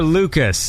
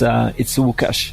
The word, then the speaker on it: Łukasz: So it's pronounced like W, like Łukasz, W.